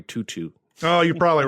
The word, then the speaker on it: Tautou: I believe her name is pronounced Audrey Tutu.